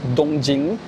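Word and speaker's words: 東京: So it is very standard in Chinese to pronounce Tokyo as Dongjing, because that's how those two characters are pronounced in Mandarin, or to pronounce Kyoto as Jingdu.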